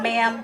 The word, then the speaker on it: ma'am: sheep and you know there's a reason mam rhymes with lamb ma'am yes ma'am no